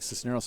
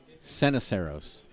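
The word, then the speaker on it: Ceniceros: pronounced I think it's it looks like Sisneros on ilana car but it's actually sena serous Alex Sena serous Sena serous cen I CER Oh s sin Aceros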